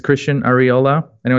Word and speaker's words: Arriola: they'll reach me or my name it's Christian areola I know it's a little hard to pronounce for most people but you know it